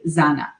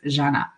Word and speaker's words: Janna: see the za they would say zanna right or zena and so I had to learn to politely correct that and say I'm you know just wanted to let you know my name is pronounced janna and so I understand